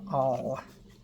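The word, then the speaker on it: awl: was saying it right we can call it the o or the all kind of like the O I'm just poking that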